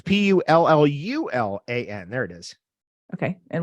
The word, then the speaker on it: pullulan: So I always choose vegetarian or Puluan capsules. What's that last thing you said? Can you spell that? Yeah, Puluan is Pullallan. I've never heard of that before. What is that? Sorry, it's Pullulan.